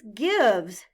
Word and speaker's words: gives: In gives, the letter I stands for the short I sound, I, and the E is silent. Blend the word with me. G, I, V, Z. Now gives.